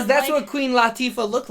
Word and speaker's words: Latifah: And I found out through that documentary, her name is Queen Latifah. It's not Really? La, it's Latifah.